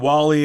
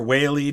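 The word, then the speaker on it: Whalley: he was a regicide edmund wally or whaley depending on where you live how it's pronounced dorset equals florida retirees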